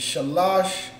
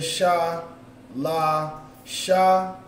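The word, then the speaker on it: שלש: Like the brother has there, sha, la, sha. So we have sha with the upside down connector, meaning that this sha is pronounced independently. And then the connector between the two, and the la and the sha, means that that's connected. So it means it's pronounced as one word, which is lash. So shalash.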